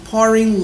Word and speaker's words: pouring: assisting pouring liquids ã aqui em termos de pronúncia tá nós temos aqui um tongo né duas vogais da mesma sílaba e o som apenas de uma vogal tá ó po poren poring liquids ã literalmente pouring ela essa